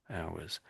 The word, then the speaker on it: hours: So hours. So the H is silent basically isn't it?